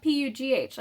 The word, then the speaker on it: Pugh: Florence Pugh, P-U-G-H, so I think that's how you pronounce her name, Pugh.